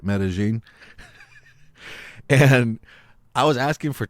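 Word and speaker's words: Medellín: Colombia and you know it's spelled metal in meta-gene those are how they say it meta-gene and I was asking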